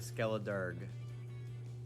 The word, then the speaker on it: Skeledirge: I think the G is supposed to be a soft G at the end of Skeledirge. Because Durga is a song.